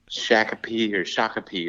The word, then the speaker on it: Shakopee: But I'm pacing the halls of I think it's a Baymont Inn in Shakopee is how you pronounce it. Shakopee, Minnesota, about to, potentially participate in this Deer and Turkey Expo here.